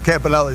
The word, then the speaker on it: Campanile: And it's Campanile. In Italian, it's Campanile, but but everybody says Campanelli, so I just roll with the punches, whatever.